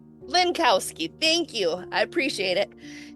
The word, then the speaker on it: Linkowski: Can you pronounce it for me please? Lancowski. Lancowski.